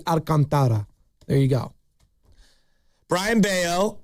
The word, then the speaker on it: Alcantara: Well, I've heard Al I've heard Alcantra. Alcantara. That's definitely not it. Yeah. Well, I don't I'm just telling you as a Spanish last name, it'd be Alcantara.